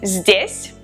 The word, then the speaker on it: здесь: Here is здесь, здесь.